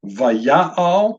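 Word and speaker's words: וַיַּעַל: This is pronounced vaya'al. You can see as the syllables have already been divided up ahead of time, First syllable is va, a vav with a patak beneath it.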